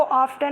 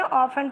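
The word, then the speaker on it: often: आई ऑफन have, बच्चों इसको ऑफ्टन नहीं पढ़ते हैं, ऑफन पढ़ते हैं, टी साइलेंट रहता है।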